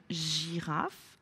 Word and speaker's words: girafe: Une girafe, cette fois-ci, la lettre G se prononce J, elle est placée au début du mot.